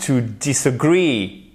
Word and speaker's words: disagree: To disagree. Et là, vous faites très attention à votre accent tonique. To disagree. Et c'est pas to disagree.